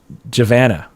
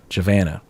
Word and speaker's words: Giovanna: all right next question Giovanna Rams with Savannah oh javana javana rhymes with Savannah okay says can a